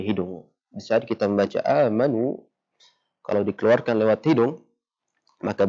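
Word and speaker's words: آمنوا: Amanu, berubah suaranya, maka itu salah. Amanu, tidak berubah suaranya, itu benar. Ya, jadi sudah maksimal keluar daripada al-jawf.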